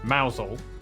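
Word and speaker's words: Mousehole: Then down to Moushole Mausole.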